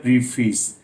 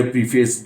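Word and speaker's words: preface: हम इसको बोलते हैं प्रीफेस, लेकिन ये प्रीफेस गलत है। इट्स सही प्रोनाउंसिएशन इज प्रेफस, प्रेफस, प्रेफस।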